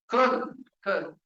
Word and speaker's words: Köln: the one city in Germany is called Cologne. Köln. And so there is this thing.